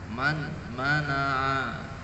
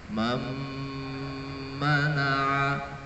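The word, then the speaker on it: مَنْ مَنَعَ: Tidak boleh kita membacanya man mana'a. Ini tidak boleh. Man mana'a. Harus diidghamkan, nun mati dimasukkan ke dalam huruf mim atau mimnya ditasydid. Jadi seolah-olah nun matinya itu tidak ada. Jadi cara membacanya mam mana'a, mam mana'a.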